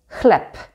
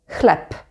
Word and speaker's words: chleb: the word, such as chleb. Chleb. Here the b is at the end of the word, so we say p, chleb, chleb.